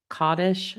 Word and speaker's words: Kaddish: We recited a special prayer of Kaddish, y'all k a d d i s h, and the clergy recited Kel Maleh Rachamim.